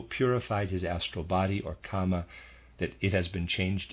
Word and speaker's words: Kama: Readers aside, and I am pronouncing that correctly, or at least not the word karma, it's the word Kama, K-A-M-A, just for clarification there, and of readers aside.